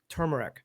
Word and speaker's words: turmeric: where's the other Arc no it's t-u-r turmeric it's turmeric now oh my God uh